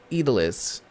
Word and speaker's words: idli: I think it's Italy. Hold on. Idli. There you go.